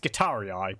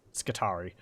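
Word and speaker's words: Skitarii: of the adaptus mechanicus i know it says it'd be pronounced guitarii but uh it's skittari firing a shell or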